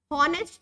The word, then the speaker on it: honest: H is silent. बोलते क्या है? Honest थोड़ी ना बोलते, हम बोलते honest.